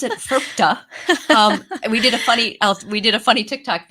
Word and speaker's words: FIRPTA: We pronounce it FIRPTA.